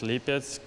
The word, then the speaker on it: Lipetsk: How do you pronounce that? Yeah, it's Lipetsk.